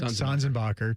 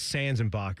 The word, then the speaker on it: Sanzenbacher: Sanzenbacher, Tyvis. Everyone says Sanzenbacher, but it's Sanzenbacher.